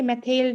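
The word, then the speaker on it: Mathilde: Please don't मेथलाइड नहीं tell बताइए, मेथेल्ड है. अगर आप इसकी प्रोनाउंसिएशन एग्जैक्ट करोगे, फ्रेंच प्रोनाउंसिएशन, इट्स मेथेल्ड.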